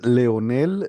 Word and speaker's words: Leonel: Um, so interpreter, could you state your name and spell it for the record? Yes, your honor. My name is Leonel, spelled as an L E O N E L.